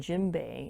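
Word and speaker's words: djembe: now what i'm playing here is an african gym bay it's spelled d-j-e-m-b-e it's one of the form of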